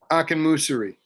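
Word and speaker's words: Akinmusire: Ambrose, how do you pronounce his last name? Akinmusiri.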